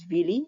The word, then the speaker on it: villi: Its internal surface is covered by tiny projections called villi. Singular is villus. Now some people pronounce this as villi. It's also acceptable.